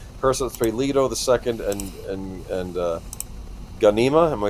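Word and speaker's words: Ghanima: New film Warner Brothers and Legendary Caro I and and uh, Gana, am I saying that right? The Ganima. Yes. Ganima.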